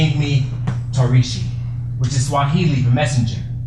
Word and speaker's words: Tarishi: Mine started in the 8th grade, when a classmate called me because he couldn't pronounce Torishi.